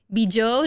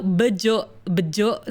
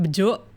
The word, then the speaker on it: Bejo: Bijo? No, bejo. Sorry, my accent gets really weird when I start pronouncing Indonesian stuff, but it's pronounced bejo. B-E-J-O.